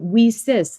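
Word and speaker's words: WiCyS: and it's spelled w-i-c-y-s we pronounce it we sis like we sisters because we're a global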